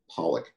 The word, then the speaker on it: Pollak: and how do you say your last name Pollock Pollock and you're in some kind of